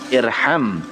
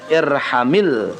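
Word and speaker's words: ارحم: Harusnya irham. Tapi karena diwasal, maka dibacanya irhamil. Nah, karena ada kalimat berikutnya, dibaca berikutnya, maka dikasrahkan. Jadi bacanya irhamil yatima.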